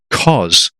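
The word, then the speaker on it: Kos: up in two days time I'll be in cause which again people listening you already sure if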